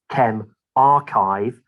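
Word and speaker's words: ChemRxiv: called chem rxiv is a symbol it's actually pronounced chem archive you know why they use these letters is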